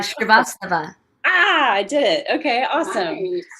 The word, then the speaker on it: Srivastava: Pronounce it for me. I never say your last name. Oh, Srivastava. Srivastava.